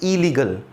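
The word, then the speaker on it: illegal: जहाँ पर भी ये डबल आर डबल एल आएगा तो आप उसको सिंगल बार ही प्रोनाउंस करें, इरेगुलर, इलॉजिकल, ठीक है, इलीगल।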